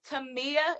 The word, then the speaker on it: Tamia: Tamia. Is that how you say her name? Tamia, Mm-hmm.